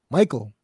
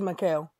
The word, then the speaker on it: Mikael: Michael or Mikael? Mikael. I would say Mikael. It is Mikael.